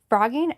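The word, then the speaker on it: phrogging: do with actual frogs it's spelled p h r o g g i n g frogging are people who live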